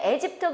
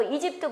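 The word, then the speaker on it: aegypti: 그다음에 거기 보게 되면 에집트 그러기도 하고 이집트 그러기도 하는데 곤충학에서는 우리가 보게 되면 에집트 그래요. 발음을. 그런데 그냥 뉴스 같은 데는 이집트 이집트 하더라고.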